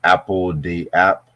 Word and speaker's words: apl.de.ap: Apple the App.